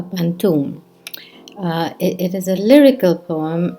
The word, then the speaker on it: pantoum: of hibiscus eyes is a pantone or more correctly uh pronounced in malays in malaysia as a pantoum it is a lyrical